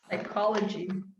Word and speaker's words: psychology: And again, my German students say they actually do pronounce the PSY in this. I don't even know how they say it. Psychology. I like that word. So these words come from other languages where all those letters were pronounced. And for some reason, we don't pronounce them in English.